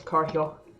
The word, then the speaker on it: Car Hill: while we're here and that is how it's pronounced by the way it's car hill but um while we're